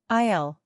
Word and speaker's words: aisle: Aisle, by the way, the S is silent.